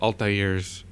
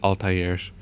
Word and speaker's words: Altair: a second one about altairs um actually from what I know is pronounced Altair um you know people pronounced it altairs um due to the immense mispronunciation through the first game and uh um anyway